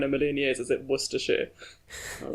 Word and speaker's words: Worcestershire: But having done my research, I'm ready to champion the one, the only Worcestershire sauce.